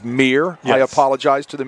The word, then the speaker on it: Meir: I've been pronouncing Wyatt's last name wrong all evening, and I was corrected at halftime. Instead of Meyer, it is Meir.